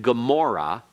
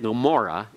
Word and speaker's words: Gomorrah: And you have to learn which words then have that kind of sound. And Gomorrah is one of those. And you have a key to that by having the English spelled with a G, which is a correct anglicized form.